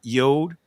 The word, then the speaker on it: yod: And Israel is pronounced yod and it's pronounced y as in year.